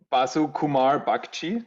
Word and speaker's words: Basu Kumar Bagchi: his name is i'm i'm probably going to butcher the name it's like basu kumar bhakti did i say that well priyank yep nice